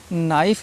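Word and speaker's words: knife: कनक पढ़ते हैं के को भूल जाइए उसको प्रोनाउंस ना करिए नॉक पढ़िए ठीक है नीड लिखा हुआ है नाइफ लिखा हुआ है बहुत से इसको कनाप पढ़ते हैं बहुत से बच्चे इसको क्नो पढ़ते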